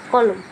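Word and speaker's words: column: अब ये देखिए कॉलम, इसको कॉलम नहीं, कॉलम पढ़ेंगे ना कि कॉलम। एन नहीं पढ़ेंगे, साइलेंट रहेगा एन, चुप रहेगा।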